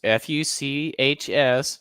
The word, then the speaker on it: Fuchs: Klaus Fuchs, it's Fuchs, so I'm pronouncing it that way intentionally, passed detailed bomb designs.